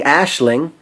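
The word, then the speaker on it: Aisling: Oh, it was nice seeing Ashling. I finally pronounced it correctly.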